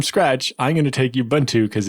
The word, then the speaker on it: Ubuntu: how to pronounce it there is no why at the beginning of Ubuntu he pronounces it like an Ewok Ubuntu yup job like steel